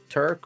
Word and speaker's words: Turk: It's easy to remember Turk. It rhymes with jerk.